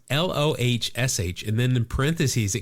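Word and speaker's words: Lohse: It's Lohsh, and then in parentheses it goes long O, rhymes with kosh in kosher or COC in precocious.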